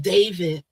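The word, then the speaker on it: D4vd: So D4 V D pronounced David, right?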